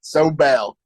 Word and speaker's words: Sobel: Sobel.